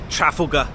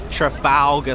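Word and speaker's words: Trafalgar: watched the video Once An American lady she was here and she said trafa I was like what never heard anybody say it like that I was so shocked Trafalga Square London baby Welcome to our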